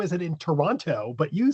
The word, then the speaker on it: Toronto: You pronounced Toronto correctly. Oh, thank you. A lot of people You did not pronounce the T, which is a lot of people say, "How is it in Toronto?"